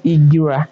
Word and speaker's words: Egbira: Oh, so nice, Egbira. Yes. Oh, okay. Egbira. Okay. So nice. Now we know the correct pronunciation.